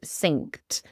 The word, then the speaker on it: synced: So it is synced. Synced. Yes, it sounds like the kitchen sink, but it's spelled Sync.